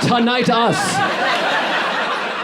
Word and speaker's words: tinnitus: It's pronounced tinnitus.